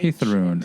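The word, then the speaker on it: Heiðrún: That is kind of a combination of TH. Hithrun.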